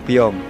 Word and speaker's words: Piong: Tapi pelafalan di sini disebutnya tambah eng, Piong.